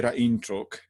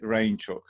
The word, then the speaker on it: Rainczuk: I think we would just say Rainczuk, but here I make it Rainczuk, like a chicken in the rain, kind of people remember it better, but hardly anyone uses it.